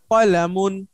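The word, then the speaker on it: كَلَمٌ: হ্যাঁ, একটু লক্ষ্য রাখবেন, এটা হলো কফ, কফ কখনো কা হয় না। হ্যাঁ, কা হয় না, কা উচ্চারণ করে আবার বললে অন্য একটা শব্দ আছে, তো এটা সব সময় ক, ক, কলমকে আমরা যেভাবে বাংলায় কলম বলি, আরবিতে এটা ক, কয়াকার হবে না, ক, কলামুন।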